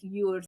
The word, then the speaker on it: YORD: But in Swedish, it's more like YORD, so it's more closed vowels.